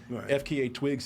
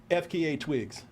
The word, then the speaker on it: FKA twigs: wait what's her name FKA twigs FKA F FK I'm sorry FK FKA twig FKA I don't think you pronounce it you just got to say the letters yeah pronounce it ain't